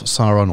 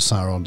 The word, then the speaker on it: Sauron: And then for the Forces of Evil, you get Gothmog, Lieutenant of Sauron, or Lieutenant of Sauron, depending on how you want to pronounce it.